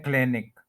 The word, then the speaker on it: clinic: इसमें आप प्रोनाउंसिएशन में देखें, 2 सिलेबल्स हैं, क्लिन और फिर एक, क्लिनिक। क्लिनिक नहीं कहेंगे इसको, क्लिनिक। 2 सिलेबल्स हैं, फर्स्ट के ऊपर स्ट्रेस है, क्लिनिक।